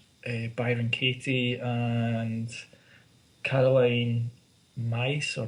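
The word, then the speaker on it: Myss: You get people like Louise Hay and like Byron Katie and Caroline Mice or Miss. I've never heard. Mace. Yeah. That's how you pronounce her surname.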